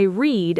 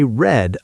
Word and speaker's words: read: But the pronunciation changes. Right. Today, I read a book. Yesterday, I read a book. Same spelling, different sound.